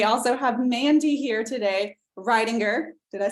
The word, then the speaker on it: Riedinger: And then we also have Mandy here today, Riedinger. Did I say it right? Yes, Mandy Riedinger, who is stationed in Florida with List to Close.